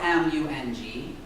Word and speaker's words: Hmong: hunter shoot a mom now mum is not spelled m-u-n-g mung is spelled h-m-o-n-g it sounds the same right mom however it was